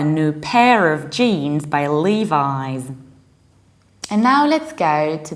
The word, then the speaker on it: Levi's: we pronounce it like Levi's Levi's both and the British and American accent we say Levi's Li like a name of a guy Lee Levi's and our example